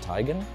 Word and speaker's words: Teigen: Radcliffe and Chrissy Teigen, who told me it's actually pronounced Teigen.